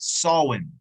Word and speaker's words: Samhain: troy trigger boo my gosh he got it solon that's how you pronounce it sawin um the celebration of the solon uh people